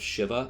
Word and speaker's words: Shiva: by the name of Shiva, and let's get this right, this is Shiva, not Shiva. Don't pronounce it Shiva, you'll just sound like a fool at this point from here on out.